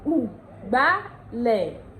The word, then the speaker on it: Ugbálẹ̀: Ondo will say Ugbálẹ̀. Ugbálẹ̀. Ugbálẹ̀. Ugbálẹ̀ is the Ondo pronunciation of broom.